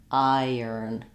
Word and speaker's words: iron: Iron. It's not a strong y. It's just connecting and gliding those two vowels together. Iron. I could also write this like I earn, or I earn, or I earn.